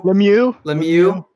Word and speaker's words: Lemieux: For me, before we end pretty soon, it's Shane Lemieux. Did I say it right, Michael? Lemieux.